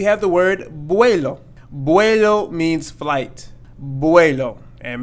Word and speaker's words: vuelo: the word means flight buello and make sure we pronounce this V or B sound properly buello and not vuelo and